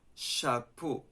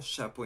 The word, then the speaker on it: chapeau: And then you can say, okay, so in English it's ch, in French it's sh.